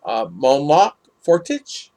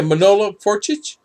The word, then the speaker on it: Manolo Fortich: I can't even pronounce that name. Monlock Fortich. Yeah, Manolo Fortich.